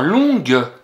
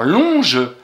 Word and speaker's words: longue: On dit une histoire longue. Le son gueux s'écrit avec un G. C'est pas une histoire longe, c'est une histoire longue.